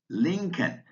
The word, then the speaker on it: Lincoln: Words with a silent L, calf, calm, chalk, could, folk, half, Lincoln, palm, psalm, should, talk, walk, would, yoke.